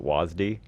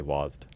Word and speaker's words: WASD: out of that is you pronounce it wasd yeah I I say wased wased you add a